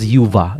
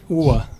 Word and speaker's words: Uva: No, normally you would pronounce that as Yuva, no, but it turns out in Serbia it's pronounced as Uwa. Uwa.